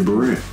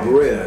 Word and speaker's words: Barea: I think I'm pronouncing the name wrong, but... What's the buddy from Dallas? I said that. Boricua. JJ Barea. JJ Barea. Oh, Barea.